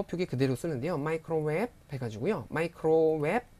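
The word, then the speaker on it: ไมโครเวฟ: 마이크로웹 삼성으로 하셔야 돼요. 원래 이성이잖아요. 웹 해야 되잖아요, 원래는. 근데 마이크로웹 하고 발음하시고요. 줄여서 그냥 웹이라고도 합니다.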